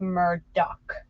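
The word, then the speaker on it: Murdaugh: his little mer Daw is how his last name is spelled but it's pronounced Murdock so he's Alec Murdock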